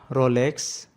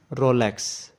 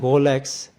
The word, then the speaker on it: Rolex: Some people say it wrong like Rolex, but the correct pronunciation is Rolex in American pronunciation and Rolex with a typical Swiss French pronunciation.